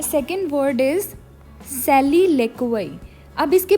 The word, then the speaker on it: soliloquy: लिखने में है SOLILOQUY, पर बोलने में इसको सॉली नहीं बोलना है, बोलने में इसको सैली बोलना है। और LO ले, QUY क्वई, ठीक है, सैली लेक्वई।